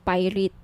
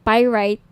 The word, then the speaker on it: pyrite: ng bracelet ito yung pirate pyrite sorry pyrite yung iba pronunciation pirate pyrite Okay one 1,980 each may